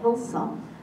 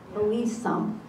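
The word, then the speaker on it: Hillesum: We bring the students to Dachau, and one thing you've taught me is how to pronounce Eddie Hill. I call it Hilsum, Hilsum.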